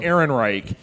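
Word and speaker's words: Ehrenreich: Aaron Wright Aaron Reich there you go Alden Aaron Reich uh you know Alden I haven't seen the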